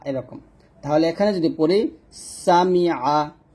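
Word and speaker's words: سَمِعَ: তাহলে এখানে যদি পড়ি সামিআ, সিন জবর সা, মিম জের মি, আইন জবর আ, সামিআ।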